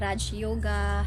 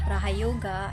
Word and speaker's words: Raja Yoga: I've heard Raj Yoga, Raha Yoga, and Raja Yoga, but I'll stick to Raja Yoga.